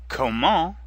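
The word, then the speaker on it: comment: so come come come Kamal means how the final T is silent and before that the en makes the same nasal sound as in cone repeat after me koe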